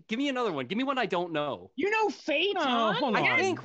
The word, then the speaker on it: phaeton: That word is pronounced, anyway, that word is pronounced phaeton.